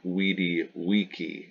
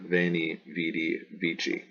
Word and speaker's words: veni vidi vici: the T sound Theatre V is always like a w so wow so when e we D we key instead of veni vidi vici double consonants are pronounced